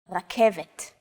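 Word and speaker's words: רכבת: It's only the R that's a little different. Focus on this first letter. It's often written as an R, but don't be fooled. This letter is pronounced differently than an English R. It's pronounced at the back of the throat instead of forward in the mouth. Listen to Edith say this letter. R, r. It's actually closer to the German or French R, but without the roll.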